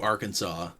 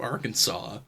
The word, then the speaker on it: Arkansas: pronounce Arkansas fanatically um pronunciation with the accident of the second syllables with the sound of an A in man and the sound of a terminal S is an invocation Innovation to be discouraged it's wild they saw